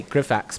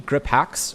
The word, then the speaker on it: Grip Hacks: We always say Grifax, but it's actually Grip Hacks, right?